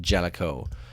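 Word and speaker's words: Jaleco: I've always been of the mind that it's pronounced Jellicoe. Those are the fine people who brought us Goal, a great soccer game.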